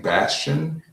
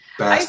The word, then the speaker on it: Bast: You know, you keep saying Bastion. How do you say it? The screen name is Bast and. Bast is in like the Egyptian goddess.